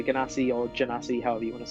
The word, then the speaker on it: Genasi: It's either Ganassi or Genasi. Basically, it's like it's probably supposed to be Genasi because they're related to genies. But I say Ganassi, but you can say Ganassi or Genasi, however you want to say.